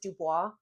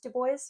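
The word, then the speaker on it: Du Bois: NAACP founded by Web Dubo. Before anybody corrects my pronunciation with Dubois, I had a lit professor who absolutely insisted that the man himself pronounced it Dubo.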